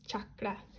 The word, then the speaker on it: chakra: to your brow chakra you know what I'm pronouncing chakra wrong it's chakra or third eye which